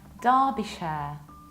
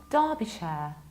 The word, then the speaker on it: Derbyshire: Whenever you have a proper noun and inside you see ER, very often this ER is going to be pronounced like long R. That's why Derby, and that's why Derbyshire, Derbyshire.